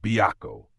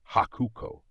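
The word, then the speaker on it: Byakko: In Japanese, the character for white could be pronounced haku and co was one of the pronunciations of the character for tiger. When the two were combined to refer to the legendary white tiger, they were actually pronounced byo. But if you didn't know that, I guess you might mistakenly pronounce them hakuko.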